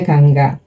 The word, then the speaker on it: Ganga: ini Dewi Gangga ya tulisannya Ganga oke bacanya Gangga Dewi Gangga adalah dewa